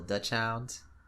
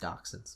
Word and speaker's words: dachshunds: But hey, you got a little Dutch hound. I think they're pronounced dachshunds, but whatever.